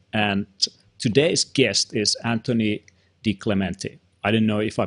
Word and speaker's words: DiClementi: I'm your host, and today's guest is Anthony DiClementi. I didn't know if I pronounced that right.